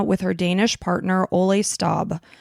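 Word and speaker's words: Stobbe: Kim was getting ready to move to Beijing, China with her Danish partner, Ole Stab. Stalbe is how you pronounce it.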